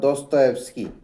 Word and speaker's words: Dostoevsky: दोस्त की में बात है तो इसे प्रोनाउंस कैसे करें? तो आप बोलो दोस्त टॉय टॉय टॉय वाला टॉय आप बोल सकते हैं खिलौना वाला टॉय। दोस्त एस्की दोस्त एस्की ऐसे आप प्रोनाउंस कर सकते हैं।